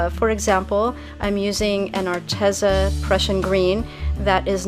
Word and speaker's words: Arteza: been saying it, and I thought it was pronounced that way too. But then I was watching a commercial actually put out by Arteza, and the girl in the video pronounced it Arteza. So I'm trying to teach myself to say it a different way.